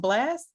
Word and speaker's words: Blxst: That's a Blast song.